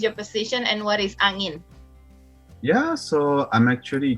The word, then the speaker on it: Angin: Did I pronounce it right? Angin or Angin?